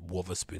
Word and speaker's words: Wotherspoon: But these Sean Wotherspoons, Wotherspoon, they say his name, Wotherspoon, right?